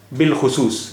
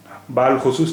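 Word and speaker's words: بالخصوص: इसी तरह बिलखुसूस, बे अलिफ लाम खे स्वाद वाव स्वाद, इसे बाल खुसूस नहीं पढ़ेंगे, अलिफ यहाँ प्रोनाउंस नहीं हो रहा है।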